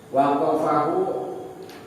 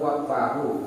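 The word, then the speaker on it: وَقْفَهُ: Waqafahu ala Bani Umar wa sahahahu waqfahu. Itu bacanya apa? Bacanya Mewakufkan daripada Wasohahu. enggak, waqafa kayak ini. Waqfahu Kan? Waqfahu alam. Qafnya sukun.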